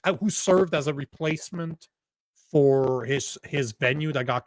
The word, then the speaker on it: Feucht: happening with with Shane Fo and I man I massacre his name. It's a gourman name. The f is silent supposedly.